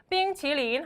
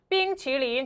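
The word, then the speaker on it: 冰淇淋: 볼게요 중고로 아이스크림이 뭘까요 삥 치린이라고 하거든요 뭐라고요 삥 치린 한번 더요 삥 치린 좋아요 뒤에 있는 슉슉 오르는 느낌의 발음 살려주세요 아이스크림이 삥 치린 좋습니다 여러분 이때 삥이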